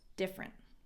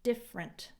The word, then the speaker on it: different: We're just different. So remember, this E isn't pronounced. Different, not different.